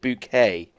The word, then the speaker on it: Bucket: and upper class that she makes people pronounce it bouquet even though it's spelled bucket.